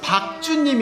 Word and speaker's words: 박준: 아니요 , 박준님 인데 " 박주님 " 처럼 들려서 요 .